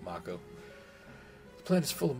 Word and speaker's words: Mako: this don't I uh I guess Mao is probably be the correct pronunciation it is kind of Japanese sounding I always used to pronounce it moo I'll go with Mako the planet is full